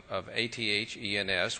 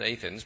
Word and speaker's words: Athens: we could all drive up to just outside of Lexington to the little town of Athens, which they pronounce Athens, but we know it Athens, and that's as close as to Greece as we're going to get.